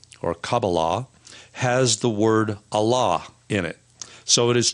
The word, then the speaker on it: Allah: of Islam repeat the name Allah which refers to the one God and two things which are interesting about this word is it has two a sounds in it again and